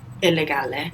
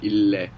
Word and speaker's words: illegale: Illegale. Very good. Illegale. And you pronounce both L's as well. Illegale.